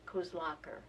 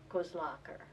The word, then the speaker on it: Kozlaker: A second person on the walk, the early walk to Musselshell, was, the correct pronunciation is Kozlaker. Kozlaker. And that is the correct pronunciation of her name.